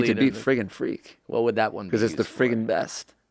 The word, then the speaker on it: Friggin' Freak: Friggin' Freak. That's FRIGGINFEFR. I should say FREAK. you don't have to spell it 'cause no one's gonna get this one. It's not freaking freak. It's friggin' freak.